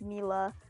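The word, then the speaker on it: Milla: so you'll notice that they do actually pronounce her name like Mila which is the actual Pro pronunciation because she got her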